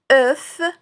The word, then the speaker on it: œuf: Enfin, vous avez le mot œuf. Œuf qui commence par le son E de cœur mais se termine par la consonne F.